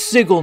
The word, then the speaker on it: Sigil: I think it's really fun how many people in Sigil, fuck it! It's Sigil now! I'm saying it right now!